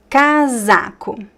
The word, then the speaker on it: casaco: Casaco. Casaco. The "s" here is between two vowels, right? So the "z" sound.